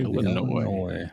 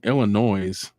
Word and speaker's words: Illinois: We got Virginia Anderson from Galesburg, Illinois.